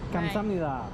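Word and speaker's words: 감사합니다: Kamsamnida. Did I say it right, HG? Kamsamnida.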